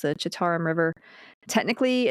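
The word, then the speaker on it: Citarum: It's pronounced the Chitauram River.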